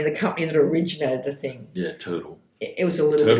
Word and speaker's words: TRTL: Yeah, Turtle. It was a little bit more expensive. TRTL. TRTL? Yeah. Much better. Yeah, that's how you pronounce it.